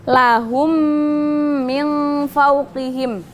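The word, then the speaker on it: لَهُم مِن فَوقِهِم: Tuliskan lahum Min fauqihim Nah di sini kan mim mati bertemu dengan mim cara bacanya dia mendengung tapi nggak buka bukanlahum jadi kan kalau kita mengucapkan mim pasti mulutnya pasti tertutup Nah jadi idgham mimi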